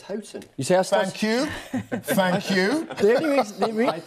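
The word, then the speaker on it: Houghton: going to say actually Peter melson just picked me up on my pronunciation of hooton hton he sayon well this is happen spring exactly Chris I think it's hton you thank you thank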